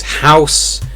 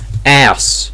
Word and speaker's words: house: Or there's house, ass, my ass. Not my house, it's my ass.